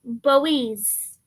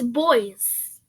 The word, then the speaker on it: Boise: they pronounce it as Boise, but it's boys. Next to the capital, you can see the pronunciation. It's boys, boy, and z, so boys.